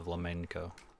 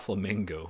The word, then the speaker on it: flamenco: As you can hear, the flamenco reference. Not flamingo, flamenco.